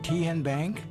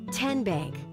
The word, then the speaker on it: TN Bank: How do you say the name? TN Bank? Nope. Tin Bank? So what is it? 10 Bank. 10, as in Tennessee.